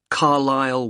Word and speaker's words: Carlisle: and your address 45 Carlisle way could you spell Carlisle for me sorry it's c a r l i s l e you don't pronounce the s Carlisle way and that's